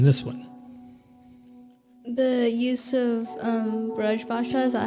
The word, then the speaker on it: Braj Bhasha: The use of Braj Bhasha, is that how you say it? Braj Bhasha?